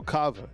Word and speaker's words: Kava: All right, so Kava is the pronunciation.